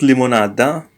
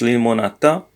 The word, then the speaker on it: limonata: It's not limonada, yeah? It's limonata.